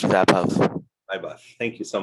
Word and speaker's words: Vaibhav: My name is pronounced Vapov.